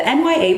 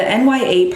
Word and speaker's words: Nya: So the NYA part in Nur, it means that, just like nya, NYA, it's not naya, it's nya.